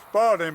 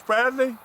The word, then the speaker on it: Spradley: I always pronounce it Spalding, but it's Spradley.